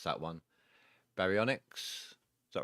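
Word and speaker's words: Baryonyx: You're playing Ark right now and a Spino is being destroyed by uh I can never pronounce that one. Barionics.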